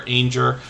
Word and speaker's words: Ainger: This was Jennifer Ainger, rhymes with danger, and they recently changed their name.